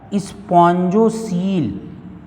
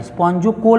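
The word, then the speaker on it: spongocoel: तो इसके इस आमाशय को, इसके इस कैविटी को हम कहते हैं, कई बार क्वेश्चन पूछा है, स्पॉन्जोसील। ओ साइलेंट होता है, स्पॉन्जोकोल बहुत लोग पढ़ देते हैं, स्पॉन्जोसील।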